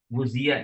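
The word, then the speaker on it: غُذِيَ: Guzia ini bacanya guzia.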